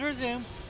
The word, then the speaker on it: resume: He said resume, like pause and resume. Yes, as in the same way you would pronounce it in the instance of pausing and resuming.